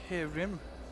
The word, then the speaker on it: Hyerim: So it's pronounced Kim Hyerim. Hyerim.